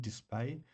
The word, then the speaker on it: DSPIAE: It's It's spelled DSPIAE, display.